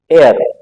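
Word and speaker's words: heir: क्या लगेगा ए जैसे एक और शब्द है एर जिसका मतलब होता है वारिस इसके साथ भी यही होगा यहां पर भी साइलेंट है यहां पर भी क्या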